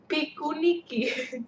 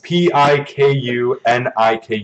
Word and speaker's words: Pikuniku: Because I don't know how to pronounce this. The first one right here. Pikuniki. Or wait. Yeah. Pinikuniku. It's Pikuniku.